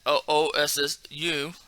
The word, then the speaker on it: Osu: But also can be like, you can say with your buddy, because from what I read, right, it has OSSU, and it was just still pronounced os.